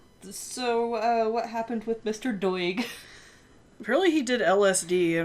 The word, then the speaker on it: Doig: listeners it's about Peter Doig we decided it's doig I don't know that that's do i oh gee you can